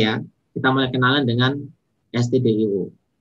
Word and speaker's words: stdio: Oke ya, kita mulai kenalan dengan stdio. Bacanya STD, standar, gitu ya. Jadi baca adalah standar.